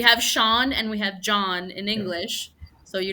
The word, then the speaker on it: John: It's like it's not Sean. It's John. Exactly. Yes. Yes. Yeah. Because then Sean is a totally different name. Like we have Sean and we have John in Yeah.